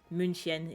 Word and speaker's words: München: We say Munich in Turkish and München in German.